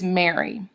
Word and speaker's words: Mary: Like my name is Mary. That's a common English first name. And it's a trochee, Mary.